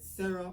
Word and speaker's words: Cero: o we call it sah but it's actually S S as in zero in Spanish you know because why